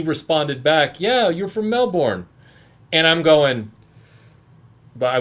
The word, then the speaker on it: Melbourne: Prime Syndicate says, except that Melbourne was named after Lord Melbourne, who pronounced it Melbourne, not Melbourne.